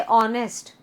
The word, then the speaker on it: honest: मैंने आपको बताया था ना जैसे ऑनेस्ट, HONEST. तो ऑनेस्ट जब हम बोलते हैं उसमें एच है बट एन बोलते हैं क्योंकि एच साइलेंट होके उसका प्रोनाउंसिएशन अ से होता है.